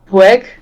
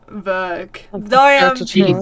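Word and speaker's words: Weug: And right, I watched a video on how to pronounce her last name because they did a private video on this. Maya Vueg. They did it in Prema and Vueg. I'm so sorry. Verg.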